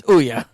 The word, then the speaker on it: Ouya: So from that point forward, you're like, yep, it's Ouya.